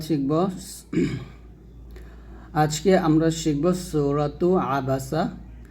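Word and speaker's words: عبس: আবাসা ওতাওলা দেখুন আইনের উচ্চারণ আপনি যখন উচ্চারণ করবেন আইনটি উচ্চারাপ দিবেন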